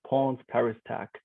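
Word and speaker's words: Ponts ParisTech: yeah so if i if you want to speak in english probably it's pawns paris tech exactly or you can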